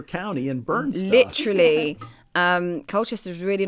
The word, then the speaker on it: Colchester: Essex there's a city called Colchester did I pronounce Colchester right no you did it right okay that's